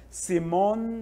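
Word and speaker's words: Simón: nome dele oficialmente é Simon Bolivar si sim BOL Aqui nós temos a tônica é a última Vocês estão vendo o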